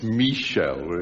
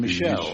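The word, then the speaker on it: Michelle: Remember we collected the songs where the accent is on the wrong syllable? It's Michel, isn't it? Which is wrong. Instead of Michel.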